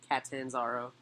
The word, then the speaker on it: Catanzaro: Yes, Catanzaro. Or Catanzaro. But I like the first pronunciation better.